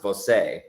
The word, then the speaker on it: Voce: So technically, it is pronounced Voce, but Voce.